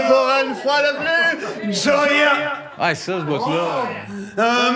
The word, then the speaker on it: Joy: Ah oui, ça s'écrit J-O-Y, puis lui, il dit Joya.